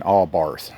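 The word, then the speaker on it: Abarth: And like I said, it's not even because they're Fiat's fancy cars, an Allbarth. That's the way you pronounce it, Allbarth.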